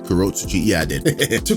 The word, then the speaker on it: Kurotsuchi: of the 12th Division Mayuri Kurotsuchi, did I pronounce that right? Kurotsuchi, yeah I did, to correctly suspect that the Quincy's are behind such a phenomenon.